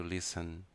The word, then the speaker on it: listen: played played to listen a letra T não precisa ser pronunciada e escutar to listen listen listened to study